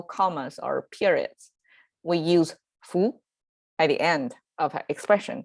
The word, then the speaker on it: 夫: that is and then foo or foo i guess by itself it pronounced as foo means somebody's husband is